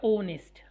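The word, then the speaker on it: honest: ऑनेस्ट आएगा। इतना आएगा यह ऑनेस्ट। इसमें एच साइलेंट होता है।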